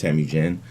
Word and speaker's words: Temujin: My name is Temujin. It's pronounced Temujin.